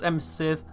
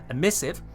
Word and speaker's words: emissive: We got the primary, secondary, tertiary, accents, emissive, that's not how you pronounce it, emissive, and energy.